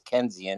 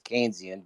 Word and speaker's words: Keynesian: John mayard kees and his philosophy is kenian it's Keynesian but other than that